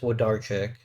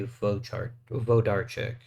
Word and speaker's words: Wodarczyk: I can't remember if the W is always pronounced as a V or if it actually pronounces a W sometimes. I think it's actually usually a V, so actually it would be Vodarczyk.